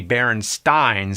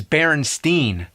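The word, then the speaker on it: Berenstain: E not an a actually the most likely pronunciation would be barenstein since it was spelled the same way like Frankenstein but every body I ever met says Baron Steen I can prove the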